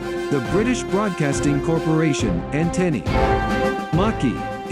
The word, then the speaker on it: Maquis: Maquis is pronounced in French.